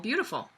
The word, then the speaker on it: Beeyoutiful: Steve is the owner of a company that sells supplements and beauty and personal care products called Beautiful. And he's spelled like B-E-E, beautiful, like a bee.